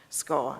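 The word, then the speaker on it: skall: spelled different differently and the one which is longer the one with the two else on the end is nearly always pronounced scar as well at least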